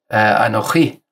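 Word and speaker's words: אנכי: diesem der anochchie ist ich habe im Hebräischen sagt man Anni und wenn man das so richtig heilig so ausführlich so ausdrücklich sagen möchtet dann ist es anochi und ähm so am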